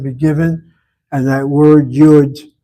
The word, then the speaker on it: yud: In this classroom, we pronounce that letter as Yud. If you go to a Christian hall of learning, the pastor will call the letter y the yode. The yode letter, ladies and gentlemen, the yode letter. Leon kind of smiles. Christians pronounce it as yod.